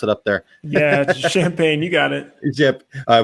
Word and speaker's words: Champaign: How do you guys pronounce it up there? Yeah, Champaign. You got it. Yep. I was trying too hard. Champaign, Illinois.